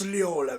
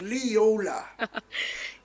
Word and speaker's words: Leola: Miss Leola. Yes, that's how you say it. Miss Leola.